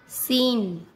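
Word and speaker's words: scene: एस के बाद सी आता है तब सी का उच्चारण नहीं किया जाता। जैसे एशेंट, साइंस, सीन, डिसाइपल।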